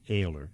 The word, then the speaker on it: Ayler: It's Ayler. That's how it's pronounced, correct? It is, yeah.